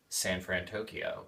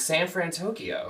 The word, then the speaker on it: San Fransokyo: the fictional city of san fran tokyo with big hero 6 calf he butchered that guys it's Fran San Fran Co Co duh it's San fransokyo it's not Tokyo 100% know let's Jake